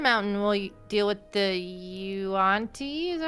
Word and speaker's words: yuan-ti: So if we go under the mountain, we'll deal with the Yuan-Ti, is that how you pronounce it, right?